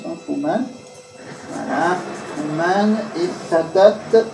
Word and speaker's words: Truman: Alors, Truman, ça c'est comme ça se prononce, hein, Truman.